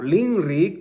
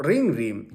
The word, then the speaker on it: ninri: en la escritura, y la normalizada nos exige a que escribamos con la N, NINRI. Pero si tú no lo pronuncias de esa manera, escribe así y pronuncia LINRI o ringri, depende de qué región eres.